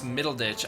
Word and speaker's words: Middleditch: really really interesting Thomas middleditch I don't know if that's how you pronounce his last name middle ditch it's weird yeah that's how you say it so Thomas middleditch is